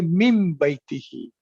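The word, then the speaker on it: من بيته: so instead of that, you will not say min baytihi, you will say mim baytihi.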